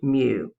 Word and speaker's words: mu: The mean of a population uses the Greek letter mu, and that's pronounced mu.